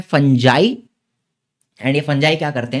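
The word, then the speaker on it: fungi: है फिर आते हैं फंजाई ठीक है कुछ लोग इसको फंगाई बोलते हैं लेकिन इसका करेक्ट प्रोनाउंसिएशन है फंजाई।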